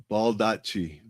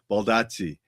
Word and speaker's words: Baldacci: Baldacci. Baldacci. Baldacci. So, that's how David's last name is pronounced. And I always sometimes butcher that name. So, Baldacci.